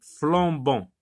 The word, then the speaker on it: flambant: la forêt en flammes quelle différence de prononciation fais-tu entre les mots soulignés donc on va se concentrer sur ces deux mots quelle est la différence de prononciation qu'il ya entre ces deux donc là on lit flambant là on lit flammes d'autres là il n'y